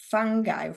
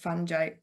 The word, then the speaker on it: fungi: difference yeah so um fangi fangi whatever you want to call it how you pronounce it is fine we don't judge um